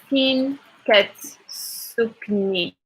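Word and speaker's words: فين كتسكني: Is fin katsu live is fin katsukni. Fin katsukni. Again, you would find like a fin with the E instead of the I, because for us that's like an E sound.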